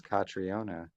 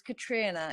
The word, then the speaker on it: Catriona: I thought it was Catriona. My apologies. Oh, that's all right. Yeah, it's Katrina. You've got to imagine like a Scottish or Irish person saying Katrina, basically.